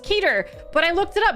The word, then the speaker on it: Keter: Why would it be Keter? There's one E. Yeah, but Peter as well is one E, but you say Peter, you don't say Petter, do you?